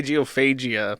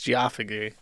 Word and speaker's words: geophagy: how you say it I want to say geophagia but it's geophagy uh we're going to